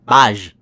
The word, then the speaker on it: baaj: Uh baaj. Baaj. Baaj. Yeah, it's a b a a and j.